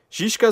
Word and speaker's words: Žižka: Žižka você vai pronunciar, você escreve como Z-I, aquele Z com igual do Slavoj Žižek, né?